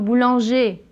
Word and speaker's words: boulanger: des problèmes par exemple boulanger là si on prononce le r ça devient le féminin boulangère pareil que ouvriers ouvrière